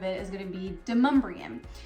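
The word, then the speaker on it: Demonbreun: is going to be demumbrium now I know that if you're looking at it and even a GPS system I believe still calls it demon Brewing that's not how you pronounce it it's demumbrian so those two roads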